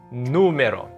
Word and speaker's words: número: Número. It's not numero. It's not numero. It's in the first syllable because there's an accent mark on top of the U. So it's gonna be número.